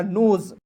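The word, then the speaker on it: nose: तो हो जाएगा नोज।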